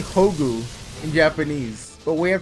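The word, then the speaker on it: 宝具: The pronunciation is Hogu in Japanese, and I guess it's one of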